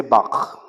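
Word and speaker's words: Bach: called Johan Sebastian Bak I'm going to teach you to say Bak if the person in front of you feels liquid on their head you're not pronouncing it right but it has to sound like they're about to receive from you B very good okay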